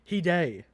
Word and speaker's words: Hide: According to the chat, it's not Hyde. It's Hide.